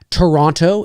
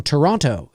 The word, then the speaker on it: Toronto: quebec quebec it's like toronto it is i always know an american because they'll go so you're from toronto you know that you know they pronounce that every syllable every syllable and but here you